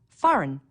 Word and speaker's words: foreign: notice the silent B foreign a g that you don't hear Wednesday don't forget the